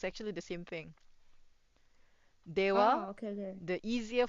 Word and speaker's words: では: Dewa, Oh, okay. Okay. the easier form to say it is ja. Ja. Ja. Okay. Okay, so I don't know how Dewa becomes ja, but yeah.